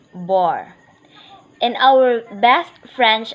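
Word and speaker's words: barre: Bear pronounced as boar.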